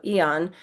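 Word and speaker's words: Aeon: The A is silent, so Eon for about 2 or 3 months until you get that inflammation under control.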